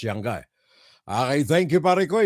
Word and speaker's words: Yanga: Sabi niya, ganun daw ang bigkas, Yanga.